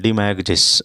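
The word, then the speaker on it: demagogues: डिमैगिस भी हम बोलते हैं। डिमैगिस जी ओ यानी साइलेंट हो जाएगा वो।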